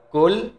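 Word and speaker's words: كل: qo dan Kaf ya karena huruf qf itu ada di Pangkal lidah dengan langit-langit atas qo kalau huruf Kaf itu ee bawah pangkal lidah dengan langit-langit atas dan juga kalau misalnya berbeda cara membacanya maka berbeda pula artinya kalau Qul Katakanlah kalau kul huruf Kaf kul Makanlah artinya ya Nah namun kalau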